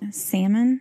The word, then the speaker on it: salmon: Doctors started for not pronouncing the L. Salmon? Pet peeve. Salmon. Pet peeve. I love my husband who pronounces salmon. That L.